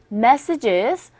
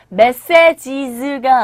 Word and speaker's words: messages: 그래서 I threw out your messages. 이 발음도 여러분들 그때 연습 저와 함께 하셨었죠? messages가 아니라 첫 번째 강세를 주셔서 messages 이렇게 발음이 되고요.